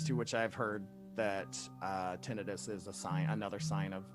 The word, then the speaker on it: tinnitus: she was just like, "I hate that everyone calls it tinnitus. It is pronounced tinnitus." But everyone pronounces it tinnitus, so it's probably one